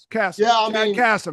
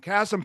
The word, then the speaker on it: Kassem: Oh, Cassm, not Casem. Castm.